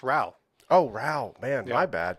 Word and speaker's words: Rowe: have another conversation later my last name is actually pronounced Ral oh Ral man my